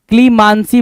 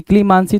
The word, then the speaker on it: clemency: क्लीमांसी बोला, क्या बोला, क्लीमांसी, क्लीमांसी तो गलत है, क्लीमेंसी होता है जी, क्या होता है, क्लीमेंसी, CLEMENCY, क्लीमेंसी, क्लीमेंसी mark कर लिया जी।